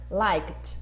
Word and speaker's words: liked: Like, liked, som de T também, porque termina com som de K.